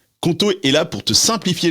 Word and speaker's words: Qonto: Conto est là pour te simplifier la vie d'entrepreneur.